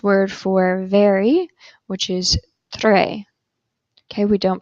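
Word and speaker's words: très: means hey or hi if you have an S at the end of the word you do not pronounce the S you see that in the French word for very which is Tre okay we don't pronounce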